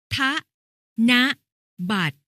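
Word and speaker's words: ธนบัตร: หรือ ทำ ให้ งาม แค่ นะ บาท อ่าน ว่า พระ นะ ฮะ บัตร หมาย ถึง บัตร ที่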